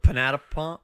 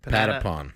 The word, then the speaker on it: Patapon: Panatapon. What is it? Patapon. Panata. Yeah. So repeat after me. Pata. Panata. Nope. Pata. Say it. Spell it. P-A-T-A. P-A-N-T. Nope. Pata. Patapon. Patapon. There we go.